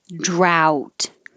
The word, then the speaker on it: drought: This is drought. This ow vowel.